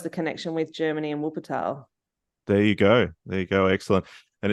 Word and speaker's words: Wuppertal: I didn't know too much about your time over there with, I apologize if I mispronounce it. Is it Wuppertal? It's Wuppertal.